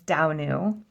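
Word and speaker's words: Danu: her right uh domu I was wrong it's not domu it's Dau um and I love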